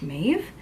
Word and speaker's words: Mabh: supposed to be pronounced mave Savage cuz again it's Irish so the B and the H are supposed to make a v sound from what I can